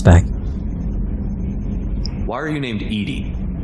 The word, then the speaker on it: EDI: why are you named edie edie is the phonetic pronunciation of edi that is an acronym for enhanced defense intelligence it's not edie it's eddie she is going